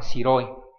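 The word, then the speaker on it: 白い: 1 sẽ đọc là shiroi.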